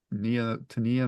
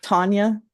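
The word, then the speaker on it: T'Nia: I think the T is silent. Tania Miller. Tanya.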